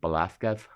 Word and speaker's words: Velázquez: I know that he's pronounced Velázquez, but I say Edward Hooper.